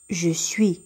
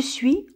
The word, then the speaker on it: suis: je يعني أنا، je suis le s بطبيعة الحال ما كيتنطقش.